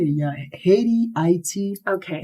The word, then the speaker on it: Haiti: You are from Haiti. Am I saying it right? Oh, yeah, Haiti, yeah.